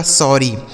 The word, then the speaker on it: sorry: हो जाता है 100, ओ का उच्चारण अ हो गया और डबल आर से एक आर साइलेंट हो जाएगा, एक आर से लिखेंगे र और वाई से बड़ी ई। यही लिखा गया आपका सॉरी।